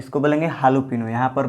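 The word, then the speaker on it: jalapeño: एक देखिए मैरी ओना, यहाँ पर जे का साइलेंट नहीं हो जाता, जे का उच्चारण नहीं किया जाता, इसको बोलेंगे मैरियोना। उसी तरह देखिए हालोपिनो, ये जो मैरियोना होता है ना, इसका मतलब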